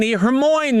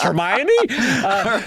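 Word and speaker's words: Hermione: you know for example I pronounced hermion Hermoine the night the first four books mentally I pronounced it hermo until I went to a movie and I was like wait it's hermy so uh what I'm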